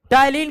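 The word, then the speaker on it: ptyalin: टायलिन का P silent रहता है।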